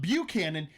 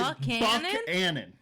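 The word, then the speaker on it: Buckhannon: Canon West Virginia and it's not bu Canon because it's not because it's spelled b u c k h n n o n it is Buck Anon Buck Anon why that's how that's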